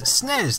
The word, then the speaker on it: SNES: A video where I'll be pronouncing SNES as SNES to save some time and possibly annoy people.